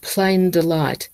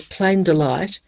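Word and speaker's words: Pleyn Delit: a picture of and it's called plain delight ple yn de li T the plank delight is a modern pronunciation it's it's the the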